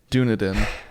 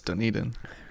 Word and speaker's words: Dunedin: Amelia or some well you also said it was Dunedin for how long when it's done eating you don't have to